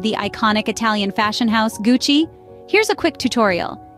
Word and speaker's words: Gucci: Gucci bag or belt remember it's Gucci not Gucci now you can sound